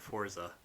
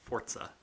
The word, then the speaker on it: Forza: You are going to get raped over the coals for calling it Forza. Really? Yes. It's pronounced Forza.